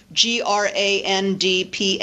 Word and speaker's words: Grandpa: of economy is operating when I pronounce that word I normally pronounce it Grandpa as if it were spelled g r a m paa Grandpa Grandpa and what is happening